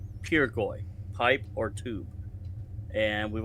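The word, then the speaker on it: pirgoy: Pirgoi, spelled P-I-R-G-O-Y, and is pronounced P-E-R-G-O-Y. Pirgoi, pipe or tube.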